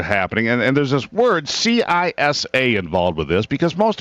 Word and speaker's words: CISA: Yeah, it's CISA.